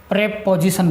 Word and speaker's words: preposition: प्रेपोजिशन। अब इसका जो कंबाइंडली जो प्रोनाउंसिएशन है वो प्रेपोजिशन बोलेंगे। क्या बोलेंगे? प्रेपोजिशन, न कि प्रीपोजिशन।